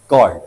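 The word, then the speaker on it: chord: फिर अलग बात है यह क्या लिखा हुआ है कॉर्ड तो इसको चड्ड पढ़ो तो अलग बात है। बाकी कॉर्ड लिखा हुआ है तो कॉर्ड जब लिखा हुआ तो क की साउंड आएगी।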